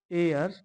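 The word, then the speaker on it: heir: अब याद रखो एयर इसको क्यों बोलेंगे? इस वर्ड में क्या है? जो एस है आपका वो साइलेंट है। ठीक? और जो साउंड आ रहा है आपका वो ई से आ रहा है।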